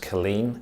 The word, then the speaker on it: Culzean: It's spelt Culzean, but pronounced Killeen, and it sits on the top of the cliffs down in Ayrshire.